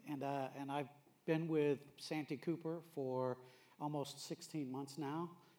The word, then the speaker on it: Cooper: It's Cooper, just like it's spelled.